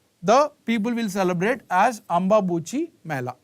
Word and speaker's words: Ambubachi: So during that, the people will celebrate as Ambabuchi Mela, right? Ambubachi Mela, right? So pronunciation may be slightly, you can change.